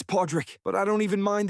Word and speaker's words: Pawdrick: Pippen, it's Podrick. But I don't even mind that you got my name wrong.